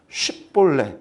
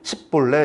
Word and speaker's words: 쉽볼레: 사람이 쉬 발음을 못해서 쉽볼레, 이삭이라는 뜻이에요. 혹은 물이 흐르다라는 뜻이라 해서 급류다, 뭐 그런 뜻을 이야기하는 사람들도 있는데, 쉽볼레 해보라 했더니 에브라임 지파 사람들이 십볼레 이러는 거예요. 쉽볼레 해봐 했더니 십볼레.